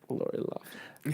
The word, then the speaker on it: Loughlin: Lori Loughlin. Like you just said. Lori Loughlin.